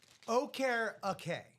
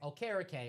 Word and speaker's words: Okereke: Okereke. Okereke.